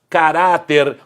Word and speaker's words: caráter: Não é a antepenúltima se não teria acento. Como não tem acento, a sílaba tônica é a penúltima. Caráter também pode significar caractere.